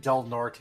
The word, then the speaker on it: Del Norte: Vista kind of depends I have never heard anyone say Del Norte it's Del nort Colorado did not like